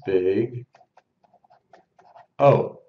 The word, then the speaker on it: Big O: B subn and again we pronounce this as Big O Okay so again if